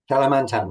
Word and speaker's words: Kalimantan: Did I pronounce it right? Kalimantan, yeah.